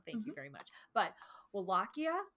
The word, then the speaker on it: Wallachia: a fun guy he was the ruler of walesia or wallachia I forget how you say that Kia wallachia thank you yeah because I keep pronouncing it